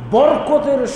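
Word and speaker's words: بركة: বরকত শব্দটা এটা আরবি, আমরা এটাকে বাংলা করেছি, আসলে আরবি উচ্চারণটা হলো বারাকা, আর আমরা ওইটাকে বাংলা উচ্চারণ সহজ করে নিয়েছি, বাংলাকরণ করেছি কিভাবে? বরকত।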